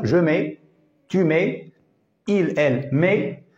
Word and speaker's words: mets: pour le féminin mais on ne prononce pas le T mais on écrit juste le T première personne du singulier